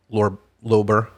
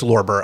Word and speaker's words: Lorber: Is it Lorber or Lober? Lober. Lober Society. Okay. No, it's Lorber. I had it. Oh, it's Lorber.